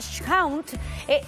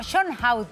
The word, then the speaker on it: Schonhout: Estamos junto a Constanza Schount, así se pronuncia, ¿no? Schonhout, Schonhout.